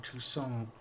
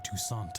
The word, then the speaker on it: Toussaint: Oh, we pronounce all of his letters? I thought he was French. So it was like Mr. Toussaint. And then you just drop those last 3 letters.